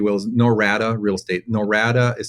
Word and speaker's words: Norada: website if you will is norata real estate norada is spelled n o r a DA norada norada